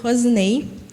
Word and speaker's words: Roseney: Então, zis não tem, né? É rosinei, mas é na verdade rosenei que se escreve R S e N y Rosenei.